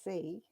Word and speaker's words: sea: Okay, and the sea as well it's pronounced exactly the same way as what you do with your eyes.